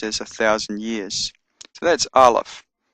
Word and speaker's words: Aleph: So that's Aleph. It's a silent letter, but it can take on a vowel sound, A, E, I, O, U, depending on the dots and dashes that are added afterwards.